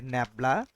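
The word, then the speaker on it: nabla: করি এই যে হচ্ছে ন্যাবলা এটার উচ্চারণটা আসলে ন্যাবলা এটা হচ্ছে ন্যাবলা অনেকে এটাকে ডেল বলেন আসলে এটা আসলে ন্যাবলা ন্যাবলা যে অপারেটরটা এটা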